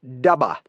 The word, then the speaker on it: dubber: In those days, we called someone who did an idiotic thing a dubber, pronounced dubba if you were from Maine.